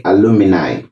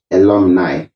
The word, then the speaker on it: alumni: do not say aluminus do not say alumini say alumnus and alumni alumnus is singular alumni is plural so it is right